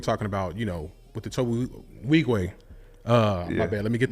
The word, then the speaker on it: Nwigwe: So I was going to say, so I know earlier you were talking about, with the Tobe Nwigwe. My bad. Let me get the pronunciation. Nwigwe.